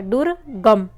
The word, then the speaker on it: दुर्गम: परे रेफ लगता है दुर्गम तो दु और द के बाद र का उच्चारण उच्चारण होता है इसलिए जो रेफ लगेगा वह ग पे लगेगा शुद्ध वर्तनी का चयन